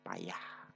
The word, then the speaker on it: pajah: Kemudian pajah merupakan dibunyikan kata pajah ini dengan payah, sayang dengan sajang.